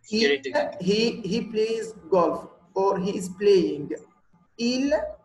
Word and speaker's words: golf: Here, golf is different. You will say F, the last letter here. Okay, you will say it. It's exception. Golf, not goal, golf.